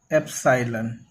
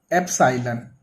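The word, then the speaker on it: epsilon: तो वहां पे हम इस साइन का यूज करते हैं, इसे बोलते हैं हम एप्सिलॉन। इसका प्रोनाउंसिएशन है एप्सिलॉन।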